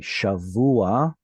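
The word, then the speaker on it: שבוע: And let's see, shavua, that would be an example with an ayin at the end. Shavua. So the patach here is just preceding the ayin, and then here maybe the word gavoah.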